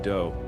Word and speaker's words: Do: This guy Marshall Appawite, but his friends called him do, which rhymes with Joe.